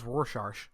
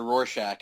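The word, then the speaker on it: Rorschach: So, or it could be this this might be our version of Jeremy Reynolds Roshar. Yes, the the legendary Jeremy Reynolds pronunciation of the Watchman character Roshack as Roshar.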